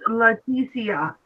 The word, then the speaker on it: Leticia: It's Joji, it's pronounced Leticia.